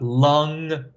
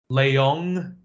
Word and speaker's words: Leong: even pronounce my name they said I got lung Leng Lang don't know where that came from Leong that was the only